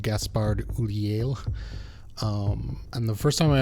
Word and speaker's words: Gaspard Ulliel: I believe it's pronounced Gaspard Ulliel.